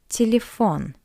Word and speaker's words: телефон: For example, telephone, телефон, телефон. You can see two ye, but we pronounce it as a weak E.